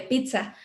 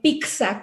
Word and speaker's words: pizza: Se me ocurre ahorita en la palabra en italiano de pizza, ¿no? O sea, la doble Z pues tiene esa característica como de ser una DZ en realidad, pero hay gente que dice pizza con C, ¿no?